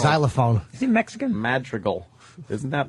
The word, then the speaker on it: Madrigal: Just this weekend, Al Madrigal will be at my club, and then how do you say his name? Madrigal. Al Madrigal. Madrigal. Madrigal. Oh, okay. It's a hard name.